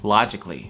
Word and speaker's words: logically: Эта A здесь не нужна. Ну, в прописании нужна, в произношении нет. Logically.